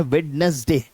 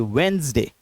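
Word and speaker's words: Wednesday: अक्सर कह देते हैं वेडनेसडे। लेकिन एक्चुअली में इसके अंदर वेडनेस के अंदर डी और नेस जो है वो साइलेंट है। डी और नेस साइलेंट है। तो इसको हम लोग कैसे पढ़ेंगे? इसको हम लोग पढ़ेंगे वेडनेसडे।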